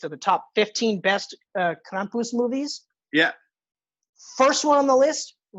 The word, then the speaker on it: Krampus: Oh, sorry, Krampus. I got to pronounce the R properly. Yeah, you got to do it like the old lady there.